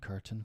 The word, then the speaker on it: curtain: Button, mountain, certain, curtain, fountain, important. We typically don't pronounce the T in these words. Instead, we cut the sound off by restricting airflow. Okay.